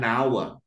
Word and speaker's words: hour: Nah, jadi ini an hour. Ini bukan a hour tapi an hour. An hour. Nah, ini karena membacanya adalah apa vokal maka pakai an.